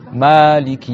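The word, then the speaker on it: مالك: Donc, dans cette récitation-là, il faut déjà prolonger le Ma. Maliki Yawmiddin.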